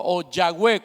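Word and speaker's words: Yahweh: entonces hemos aprendido que el tetra gran matón oyagüe como sería la pronunciación más adecuada viene de esa de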